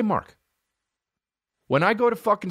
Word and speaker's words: Mark: Another thing about Mark is when he says his fucking name to people, Merk. That's how they say it in Ireland, Merk. And people are like, what? Merk? Just say Mark.